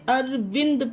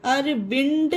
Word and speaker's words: Arvind: उसी तरह ARVIND, ये देखिए डी आया, ये भी पर्सन का नाम है, तो इसे अरविंद पढ़ेंगे, अरविंद नहीं, अरविंद। क्या पढ़ेंगे इसे फ्रेंड्स, अरविंद, दा निकला।